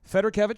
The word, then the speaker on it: Fedorkevich: paren see agent of your last matter Kevin Federer Kevin yep okay so what is your final question here Josh with living water irrigations for Federer Kevin so I know you say you don't get